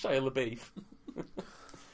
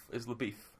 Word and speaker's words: LaBeouf: this episode shyla alien it's shayla beef you know that's actually how you pronounce that name LaBeouf isla beef yeah yeah I don't give